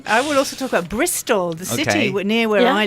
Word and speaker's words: Bristol: example of that but Bristol which is the biggest city near where I live in in England used to be called bristo BR it changed so it's now Bristol with an L on the end Bristol Bristol yeah but there